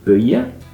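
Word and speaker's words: buidhe: In a word like buye, the I and the E are both slender and they're on either side of the DH, so the DH makes a y sound, buye.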